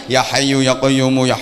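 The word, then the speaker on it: يا حي يا قيوم: yoka yoka yoka yume harusnya ya hayyu ya qoyyumu yang yiwu tapi bacanya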